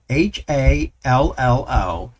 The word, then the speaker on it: Hallo: to install and use Hallo. And I hope I'm saying that right. It's H-A-L-L-O. And according to Google, it should be pronounced as ha plus lo, so Hallo.